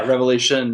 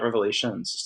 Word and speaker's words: Revelation: anyway revelation thing yeah revelation not revelations the Savior revelation that's one of those become probably the most mispronounced book of the Bible revelation revelations right sure